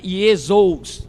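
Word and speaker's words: Ἰησοῦς: Então nós estamos aí, ó, no grego, o ditongo pronuncia-se U. Nós temos ali ou, né, Iesos.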